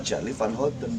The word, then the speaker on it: Charly Van Houten: Dan memang Muhammad Charlie Van Houten walaupun dengan pakai P gitu, tapi kan memang namanya diucapkan Muhammad Charlie Van Houten, bukan Cas Mali Parli.